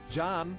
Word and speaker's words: Can: in the classroom and his participation in sports John his name is spelled with a see which is pronounced like a J and Turkish came to the u.s.